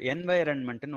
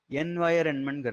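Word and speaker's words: environment: இப்போ இங்கிலீஷ்லேயே வந்து என்வைரன்மெண்ட்னு ஒன்று இருக்குது, எனக்கு தெரிஞ்சு அதை கரெக்டாக ப்ரொனவுன்ஸ் பண்ணுறது யாருமே இல்லை. எல்லாரும் என்விரான்மெண்ட் என்விரான்மெண்ட் அப்படிமா, ரெண்டுமே தப்பு. என்வயரன்மெண்ட்ங்கிறது தான் அதோடைய கரெக்ட் ப்ரொனவுன்சியேஷன். பட் சில பேர் இப்போ இங்கிலீஷ்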